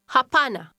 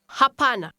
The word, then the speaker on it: hapana: Hapana. Pana. Pana. Ha. Hapana. Hapana. Does your pronunciation sound like the speaker's? Say no. Hapana.